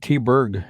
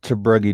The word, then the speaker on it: Tebrugi: No, actually growing up, I always pronounced it T-Berg growing up, but I found out it was actually, I was told it was supposed to be Tebrugi, so that's what I went with. Went back to the original after I got to be an adult. It is a funky name. I pronounce it Tebrugi, Nikki.